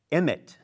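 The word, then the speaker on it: אמת: I learned a new Hebrew word this program, emet, which is truth, correct?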